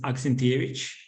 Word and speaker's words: Aksentievich: So my last name is Aksentievich. This is the right pronunciation.